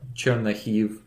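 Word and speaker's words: Chernihiv: to call chernigov or chern nahive it's different pronunciation based on the Russian and Ukrainian we went to that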